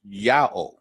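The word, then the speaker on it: Ιαώ: But we see here that when you read the Greek, the IAO, that when they read it, they pronounced Yao, right?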